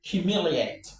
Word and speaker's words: humiliate: So this is what in the stress right number five humiliate humiliate humiliate one two three humiliate humiliate humiliate